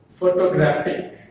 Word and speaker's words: photographic: If we add some letters to this word again, that becomes photographic. What is that? Photographic. The stress is on the graphic, graph.